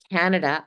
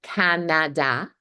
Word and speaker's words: Canada: Most of us pronounce this word, we stress the first syllable, the ka, then we hear the short sound, and the next two vowel sounds, they're reduced to the schwa.